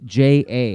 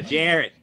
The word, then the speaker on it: Jarrett: understand that, you know, my name pronounced by my grandparents in Worcester would be Jarrett. So Yeah. So folks from the West Coast thought it was Ja.